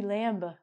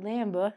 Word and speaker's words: lamb: Well, Ronnie, you forgot the B, lamba. Oh, it's not lamba, it's lamb.